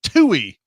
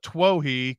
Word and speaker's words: Twohy: David Toohey. I had to look that up. I had always called it Twohy, called his name Twohy, because I didn't think, no, he doesn't use two as his pronunciation.